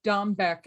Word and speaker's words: Dombeck: Dombeck? Correct. Okay, Dombeck.